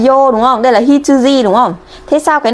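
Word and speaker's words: 羊: Ví dụ chữ này A đứng một mình nó đọc là Hitsuji, tức là con cừu, ok.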